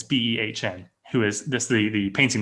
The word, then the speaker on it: Behn: I think it's how you pronounce her name. Might be Ben. It's Behn, who is this.